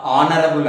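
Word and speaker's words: honourable: హీస్ an honest అంటాం, లేదా ఆనరబుల్ అంటాం. హెచ్ అనేటువంటిది పలుకుతున్నటువంటి సమయంలో డిజపియర్ అయిపోతుంది, కనబడకుండా పోతుంది. కాబట్టి ఇలా కొన్ని లెటర్స్ అవి కాన్సోనెంట్స్ అయినప్పటికీ కూడా ఓవెల్ సౌండ్స్ ఇస్తాయి కాబట్టి యాన్ అనాలి.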